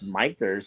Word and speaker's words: Michter's: God, I didn't even know that's how you pronounce it. Actually, someone told me he said it's Michter's, and so like anytime I talk to somebody